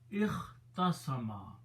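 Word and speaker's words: اختصم: So now this word becomes ikhtasama. Ikhtasama. That's how bab iftala is pronounced.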